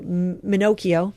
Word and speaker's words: Minocchio: I have to do Minocchio, rhymes with Pinocchio from McCain.